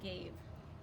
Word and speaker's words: gave: know this says good I want a to say a so I need silent e to make gave next word say state